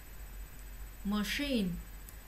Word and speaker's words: machine: Machine, machine, machine. Cũng là âm ch, nhưng mà nó không đọc là ch, nó đọc là sh.